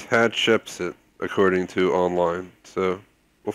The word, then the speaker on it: Hatshepsut: It's Hatshepsut, according to online.